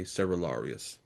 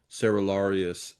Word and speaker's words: Cerularius: Patriarch Michael Cerularius, and I've heard his name pronounced several different ways. I'm going to try to just be consistent in my own pronunciation here and just say Cerularius.